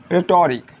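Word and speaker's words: rhetoric: मतलब इसे देख लो, यहाँ से ये एच ख़त्म हो गया तो रिक, रेटोरिक।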